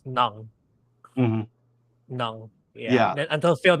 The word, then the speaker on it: Ng: He pronounces it ung. When I first encountered your name, I would read it as, in the Philippines, it would be read as Nang.